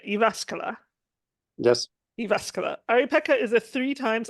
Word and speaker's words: Jyväskylä: based in Finland I hope I get this pronunciation right iasca yes iasca Aripeka is a three times Olympian swimmer and